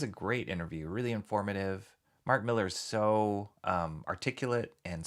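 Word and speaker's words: Millar: Helmsworth not Hemsworth not Helmsworth John with the pronunciations Mark Miller not marar saw a great interview with Mark Miller this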